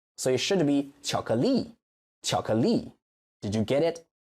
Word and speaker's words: 巧克力: in Chinese may be chocolate. So that's the problem. You stress the beginning. But in Chinese, we don't do that. We stress the last syllable. So it should be 巧克力, 巧克力.